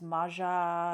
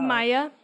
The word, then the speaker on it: Maja: Or maybe it was Maja. Maya, I think is how they pronounce it in the movie.